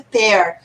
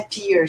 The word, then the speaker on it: pear: Falou, não, a pronúncia é pear. Ai, teacher, como é que eu vou decorar que é pear e não é pear, tipo beer? Falei, imagina, sei lá, polar bear eating a pear.